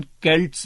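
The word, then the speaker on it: Celts: वो थे ब्रिटन्स या उनको सेल्ट्स कहा जाता था। वैसे इसका रियल प्रोनाउंसिएशन केल्ट्स भी बोलते हैं और केल्टिक भी बोला जाता है उस एरिया को।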